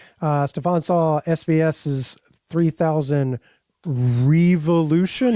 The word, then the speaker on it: Revolution: I'm perfectly fine just calling it revolution because that's how their own people say it.